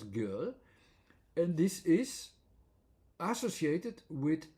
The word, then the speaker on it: 给: And it's pronounced as girl, and this is associated with a tenth, for instance.